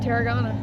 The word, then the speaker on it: Tarragona: Tarragona.